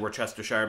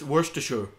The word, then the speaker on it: Worcestershire: It seems yesterday I may have pronounced this town wrong. I may have said Worcestershire, because in the United States we have a